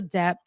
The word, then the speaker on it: debt: trying to derail the debt relief plan and the administration's hope of erasing millions of borrowers' debt. In keeping, let me say debt because Ben don't like when I pronounce the B.